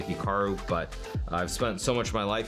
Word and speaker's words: Hikaru: to pronounce Hikaru now even myself when I pronounce my name it's definitely more Americanized versus Japanese certainly I was pronouncing it correctly it would be more like Hikaru as opposed to Hikaru but I've spent so